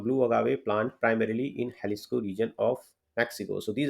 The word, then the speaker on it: Jalisco: we are discussing about halisco so I have written also in Hindi the pronunciation so the right pronunciation Isis not Jalisco so maximum variety of